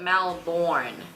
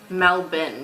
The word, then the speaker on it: Melbourne: like most Australian way you don't pronounce every letter like Melbourne you like yeah like